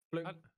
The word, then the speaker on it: Flink: Flung. Flunge, right? It is Flung.